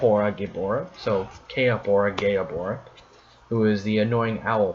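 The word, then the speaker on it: Kaepora Gaebora: the earth temple gel holla then we have que ahora gayab hora que up or gayab hora because I didn't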